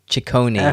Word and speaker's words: Ciccone: Okay, thank you, because I was not sure how to pronounce that last one. Ciccone.